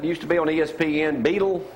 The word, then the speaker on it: Beadle: How you pronounce that? How you say that? Beetle? Michelle Beadle. How you say it? Michelle Beadle. Michelle, but I know how to say Michelle, but that's the way you pronounce her last name.